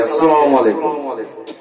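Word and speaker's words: السلام عليكم: আমরা অনেকে সালাম দেই, আসসালামু আলাইকুম, সালাম সিন দিয়ে। এখন আপনি যদি সাদ উচ্চারণ করেন তার অর্থ মারাত্মক চেঞ্জ হয়ে যাবে। সালাম মানে কি? শান্তি। আর যদি সাদ দিয়ে উচ্চারণ করেন তাহলে আপনি ধ্বংসপ্রাপ্ত হন, আপনার ক্ষতি কামনা করছে সে।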